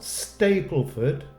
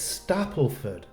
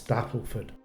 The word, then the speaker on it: Stapleford: Mary in Stapleford leester no not Stapleford it's Stapleford now I've had my hands slapped a few times so I double checked on the pronunciation of the place and it's Stapleford it has a three